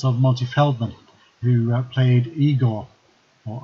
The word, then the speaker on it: Igor: for the performance of multi Feldman who played Igor or I got as you pronounced his leg in that particular film and